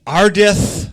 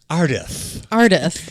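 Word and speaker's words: Ardith: books Casey uh our main character is named arith oh God law why barf let me spell that for you in case you at home a r d i t h arith arith i lik the name Holly if it was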